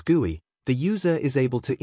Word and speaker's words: GUI: A user interacts with a program through its a graphical user interface or GUI pronounced as GUI.